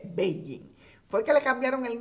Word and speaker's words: Beijing: que nos percatamos que ya no se dice pekín sino que se dice baby fue que le cambiaron